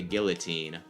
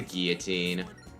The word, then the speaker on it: guillotine: I understand why a lot of people don't, but a lot of people are like the guillotine. It's like, no, it's French. It's the guillotine.